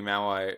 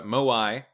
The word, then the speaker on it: moai: another one except for maybe maui uh moai i i know how to say it uh moai better blues which we